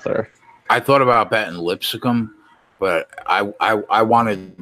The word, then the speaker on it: Lipscomb: I thought about betting Lipscomb, but I wanted like 21, not 26. Lipscomb? If they would have, yeah, Lipscomb, whatever, bro. You're adding a syllable there, dude.